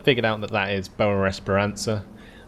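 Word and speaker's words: Boa Esperança: And I've figured out that that is Boa Esperanza, not Boa Esperanza.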